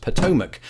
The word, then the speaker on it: Potomac: sailed that very river I can say with absolute confidence it is pronounced Potomac if only our final